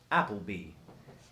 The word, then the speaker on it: Appleby: That would be Nicole Appleby. Oh, she's just a peach. Great person. Can you tell me the name one more time? Nicole Appleby. Not like the restaurant, like the last name.